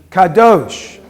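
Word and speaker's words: קָדוֹשׁ: Holam Vav is pronounced O. So how do we pronounce it? The last consonant is the letter Sh. Kadosh.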